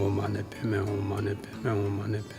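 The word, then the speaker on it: Om mani padme hum: The mantra of compassion is there are 6 syllables. Om, ma, ne, pe, me, hum.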